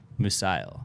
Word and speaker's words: Musial: Musial.